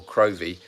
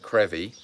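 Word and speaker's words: Crovie: c-r-o-v-i-e so we'd pronounce it cravi but or crovy but it's pronounced in Scotland crevy it's a little tiny fishing Village that is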